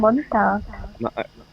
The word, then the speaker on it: buntag: Yeah, Mm, they don't say tag. They say tug. like, yeah. Like tugboat.